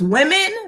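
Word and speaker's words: womxn: so um marina so it's spelled w-o-m-x-n so it's women but without the e you just put an x in place of the e because i think they're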